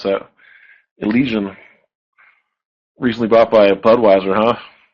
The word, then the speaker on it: Elysian: How do you pronounce that? Elysian.